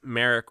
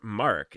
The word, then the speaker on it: Merrick: cool cool um okay so it's Merrick or Mark if you're European that's what they'd call me I I think Merrick is a Polish name um so they're probably actually pronouncing it correctly and I'm doing horrible things to the name uh and no my